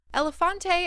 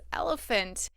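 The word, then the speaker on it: Elephante: Elefante apparently isn't pronounced that way. It's elephant.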